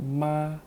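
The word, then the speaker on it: 马: have learned the word ma which means mother right but this one is ma which means the horse i know this word ma sounds like the word dog in the thai language okay okay but it's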